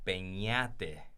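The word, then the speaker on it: Peñate: Actually, okay, it's actually pronounced Penate. Oh, with the enye. Yeah, with the enye in there. But the enye ain't on a keyboard, so they got to go to the N.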